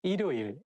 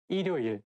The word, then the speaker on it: 일요일: When the word has the same syllable at the beginning and at the end at the same time, it's not easy to pronounce. For example, 일요일, 일요일. If you read it syllable by syllable, you can say 일요일. But when you say it as a one word, you have to connect it together and say 일요일.